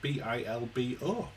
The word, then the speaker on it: Bilbo: We learned that you can also spell it B-I-L-B-O. Bilbo, which is Bilbo. the Basque way.